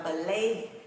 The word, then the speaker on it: plan: Mình có đọc là plan, mà nó không phải là âm E mà nó là âm AE.